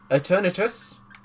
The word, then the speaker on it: Eternatus: Eternatus. I think that's... Yeah, Eternatus is how you say it.